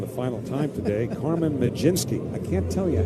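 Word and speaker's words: Mlodzinski: Well, anyway, Ramirez will come on now in relief of get to say this for the final time today, Carmen Majinski.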